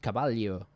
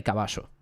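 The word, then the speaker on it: caballo: sh sounds because um we use the sh a lot here in Argentina particularly Buenos Aires um a lot like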